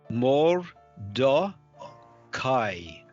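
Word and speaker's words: Mordecai: So here we've got This is the closed symbol. See that it's got the colon under, so you wouldn't pronounce that. That would be more. More do kai.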